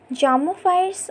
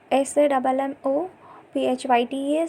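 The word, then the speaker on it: psammophytes: And zamophytes are like a P, here the P is silent. SAMMOPHYTES.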